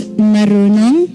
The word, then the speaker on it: marunong: So it's marunong. Marunong. You don't really need to roll your R that hard.